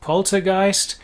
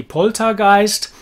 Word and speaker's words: poltergeist: is a poltergeist um the pronunciation in english is pretty much okay we say poltergeist poltergeist german would be poltergeist pretty much roughly there the um er